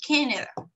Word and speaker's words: Canada: Es Canada, ¿ok? The stressed syllable is here, Canada, ¿ok?